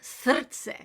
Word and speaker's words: srce: So that word srce, that's probably the hardest word to pronounce because you have to roll the R and the C sounds kind of like TS.